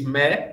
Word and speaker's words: mais: Em italiano, eles usam ma, em francês, me, mas se escreve M-A-I-S, porque o francês é uma confusão dos diabos. Você escreve uma coisa e diz outra.